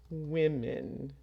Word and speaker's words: women: pronunciation it's spelled w m n but it's pronounced women women so one woman many women okay so